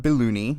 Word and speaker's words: Bailouni: Bailouni. Am I pronouncing that correct?